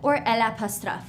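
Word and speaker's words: eau: Same thing for o. Okay. Water. O. Here's how we spell it. E A U.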